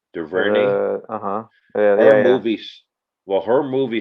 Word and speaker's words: DuVernay: I've always said that girl or that lady, not girl, Ava, I can't pronounce DuVernay. How do you say her last name? DuVernay.